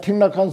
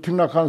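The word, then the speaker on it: Thích Nhất Hạnh: 그리고 틱락한 스님이 법화경 해설한 책이 우리나라에도 번역됐어요. 나도 늘 그걸 의지하는데 그 월남만 하더라도 베트남만 하더라도 중국 그 한문권이잖아요. 그 한문권이야. 틱락한이 석일행이야. 한자인데 베트남 발음으로 하니까 틱락한이라. 석일행인데 스님석, 석가모니 석자라.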